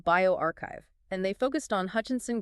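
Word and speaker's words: bioRxiv: That's B I O RXIV pronounced bioarchchive and they focused on Hutchinson Guilford PGeria syndrome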